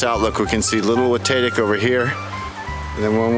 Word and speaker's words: Watatic: mountain throughout this recording I have mispronounced the mountain with tatic however it should be pronounced watatic I appreciate if someone